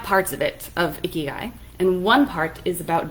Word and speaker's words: ikigai: Not like ikigai, like a gross guy, like the Japanese word, ikigai.